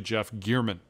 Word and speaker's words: German: make a correction um i have been pronouncing uh the reporter who was murdered in vegas's name incorrectly it's actually jeff gearman uh i did not know